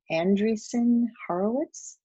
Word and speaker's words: Andreessen Horowitz: Since then, he has led the company to acquire four more social apps, Growler for $11.8 million, and Andreessen Horowitz, is that how you pronounce it?